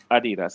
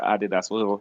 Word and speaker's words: Adidas: Okay, if they get this new deal, supposed to be with Adidas or Adidas, whatever you want to pronounce it.